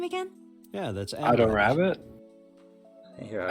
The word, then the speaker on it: Adorabbit: Yeah, that's Ado Rabbit? Here, how do Ado you say Rabbit. it? Ado Yeah, Rabbit. that's Adorabbit. Adorabbit. You Adorabit.